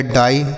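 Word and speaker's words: die: ड आई के बाद ई तो आई का उच्चारण लिखा गया डाई डी आई ई डाई उसी तरीके से बच्चों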